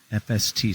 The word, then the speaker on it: Efeste: Tell me about the name of the winery, FST. So it's spelled EFESTE, which is hard.